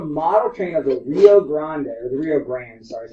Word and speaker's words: Rio Grande: So he decided to build a model train of the Rio Grande, sorry, is how you pronounce it.